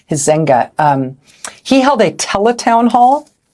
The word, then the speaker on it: Huizenga: I think that's how you say his name. It's Huizenga. Huizenga.